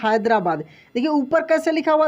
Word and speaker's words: Hyderabad: तो ऐसे लिखा हुआ मिले या ऐसे लिखा हुआ मिले, दोनों का दोस्तों होगा हिंदी हैदराबाद।